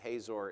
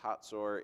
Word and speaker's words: Hatzor: You would pronounce it Hazor in English, H-A-Z-O-R, but it's pronounced Hatzor in Hebrew.